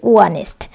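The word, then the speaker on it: honest: I know an অনেস্ট ম্যান ইন the village, এটি একটি ব্যতিক্রমী রুল। এই অনেস্ট এইচ কনসোনান্ট দিয়ে শুরু হলেও এখানে কিন্তু কনসোনান্টের উচ্চারণ হচ্ছে না, এরপরে যে ও রয়েছে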